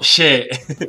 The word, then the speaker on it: Shé: No She, sino She. Que la primera vez que lo reaccioné le dije She pensando que era S-H-E de inglés. Pero en los comentarios me estuvieron corrigiendo diciéndome que se pronuncia She.